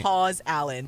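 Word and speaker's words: Paws Allen: Pause Allen, but spelled like Paw.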